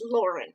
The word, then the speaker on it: Laurien: Now, it's spelled Laurien. I say Lorien, but on the audiobook it says Lauren.